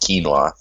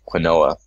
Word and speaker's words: quinoa: Right, Oh, according to Valley Stared, that cereal grain I mentioned is pronounced quinoa, not quinoa. Well, then why do they spell it like that?